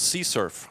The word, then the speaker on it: CSRF: abbreviated SE srf or sometimes xsrf that's hard to say pronounce c surf sometimes I'm not not going to say curf because I've said it and my colleagues are making fun of me all the time for saying C surf so I'm going to